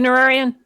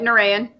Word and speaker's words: Nureyin: blessed be all right um is that you nerarian i race pronounced the name but you got it narayan yeah yeah that's me uh hazel hazelnut um